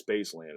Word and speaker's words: spc3lnd: rap name astronaut um so it's spelled different it's spc3 lnd D so the reason I spelled it that way is because it just fits in a license plate seven letters so um obviously space